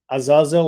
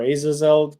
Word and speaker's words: Azazel: about lilth and um Azazel or Azazel there are different ways you can pronounce this being we talked about L